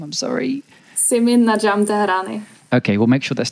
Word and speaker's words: Simin Nadjm-Tehrani: I need you to pronounce it one time, because I'm not very good at that name. I'm sorry. Simin Najim Tarat.